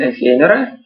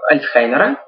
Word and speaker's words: Альцгеймера: Самые известные, например, болезнь Альцгеймера, или, в общем-то говоря, как более правильно произносить немецкую фамилию, Альцхаймера, вот, она связана с накоплением тау-белка и бета-амилоидного белка.